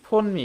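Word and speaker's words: phoneme: এটা যদি আমরা একসাথে লেখি ফোন মি। এটার উচ্চারণ কি ফোন মি হবে? তখন এর উচ্চারণটা কি হয়ে যায়? এটা আমেরিকান উচ্চারণ হয়ে যায় ফৌনিমিম বলতে হবে ফৌনিম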